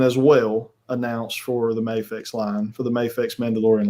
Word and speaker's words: Mafex: All right, so jumping back into I think this is Mafex or Mafex, however you want to pronounce it. It's Mafex.